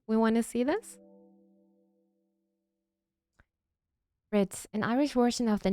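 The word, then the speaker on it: Bríd: want to see this Brit an Irish version of the name Bridget a famous Irish saint it's pronounced with a long e similar to the English word breed but the finaly is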